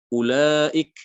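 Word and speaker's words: أولئك: Ulaik, ya ini juga wawunya dianggap tidak ada.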